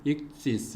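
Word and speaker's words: ἰχθύς: 모아가지고 조합을 시키면은 저렇게 익투스라고 하는 물고기라고 하는 뜻의 헬라어가 되는 겁니다. 이제 익투스 또는 이제 보다 정확하게 이제 발음하면은 익시스 이제 그렇게 되는데요.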